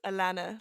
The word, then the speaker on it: Alanna: It's Alanna, like Hannah.